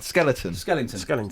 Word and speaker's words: skeleton: Skeleton. Skellington. No, that's wrong. What? It's skeleton.